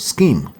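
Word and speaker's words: SCIM: but it's called scheme don't pronounce it out if you go to an interview just say scheme they understand what you're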